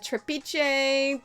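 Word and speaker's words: Trapiche: of this t-r-a-p-i-c-h-e trapeze it's from argentina so it's gotta have like a spanish kind of pronunciation trap i-c-h-e but it's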